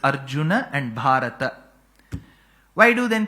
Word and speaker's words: Arjuna: a because in samam you should never ever complete the last letter by cutting half of its pronunciation it's not Arjun it's Arjun that akaram